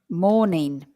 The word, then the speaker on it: mourning: uh dwell it's um morning morning morning not morning morning evening afternoon no morning M oouu u r n i n g but this is the same pronunciation as morning or afternoon so if you are